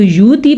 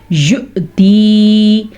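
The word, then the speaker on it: يُؤْتِي: یؤتی، اگر آپ اس کو یوتی پڑھتے ہیں تو ٹھیک کر لیں، اگر آپ اس کو یؤتی پڑھتے ہیں تو ٹھیک کر لیں. یہ ہے یؤتی مالہ یتزکی وما لأحد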